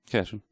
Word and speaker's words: Cashin: Anyway, so Courtney Cashin, or is it Cashon? Cashin. Cashin. Oh, says- I've always pronounced her name wrong the whole time.